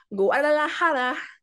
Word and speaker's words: Guadalajara: So, he started off in Guadalajara. Don't know if that's how you say it.